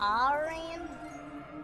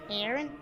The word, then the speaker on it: Aran: pronounced Aran, not Aaron.